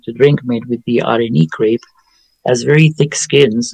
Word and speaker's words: Areni: Arenie?